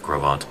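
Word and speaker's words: Gros Ventre: This reconstruction shows what kinds of animals may have lived in Wyoming during the Middle Cambrian period, when the Grovant, pronounced Grovant, formation was being deposited.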